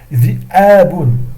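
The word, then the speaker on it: ذئاب: Dhi'abun, ça se prononce dhi'abun, qui est le pluriel de dhi'bun.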